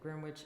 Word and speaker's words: Greenwich: That's how you say it, Greenwich, England.